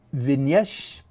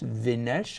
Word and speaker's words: Vignesh: And Vignesh Padm, okay, hang on. I'm assuming the G is silent, right? It's not Vignesh, it's Vinesh, I'm assuming.